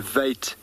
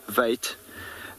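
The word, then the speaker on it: wyd: got Lost in Translation through the mispronunciation or inability to pronounce vait and so it became White and it's not not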